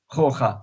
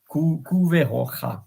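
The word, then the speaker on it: couve roxa: Roja, sorry. The X is pronounced ja, so like Javier. Cuveroja.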